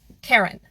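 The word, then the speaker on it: Charon: on the internet Karen now Karen spelled like the name is the name of a people but k h a r o n refers to the god of the Dead specifically the fairy man so the fairy man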